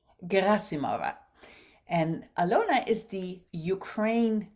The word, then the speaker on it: Gerasimova: And today I'm going to interview Alyona Gerasimova. No, I think I'm mispronouncing it. Alyona, please give me your correct pronunciation for your last name as well. It's Gerasimova. Gerasimova.